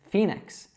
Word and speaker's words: Phoenix: So do you know how we pronounce that PH first of all? You've probably seen this in other words. Now we pronounce that as an F. So we actually say this Phoenix. Now this one is really tricky because there's a silent O in that name.